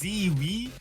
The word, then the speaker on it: zweywe: I don't pronounce Zoe's name. It's Zwee. I got a lot of Zimi. Okay, I got a lot of DMs. I got one DM kept correcting me about pronouncing this person's name. Zoe Zimi Zoe.